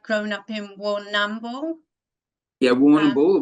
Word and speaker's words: Warrnambool: We normally don't use the AM of the word, like the letters. So it's just you go Warrnambool. So you just go Warrnambool. If you phonetically sound it out, it sounds like Warrnambool. But yeah, it's like Melbourne rather than Melbourne.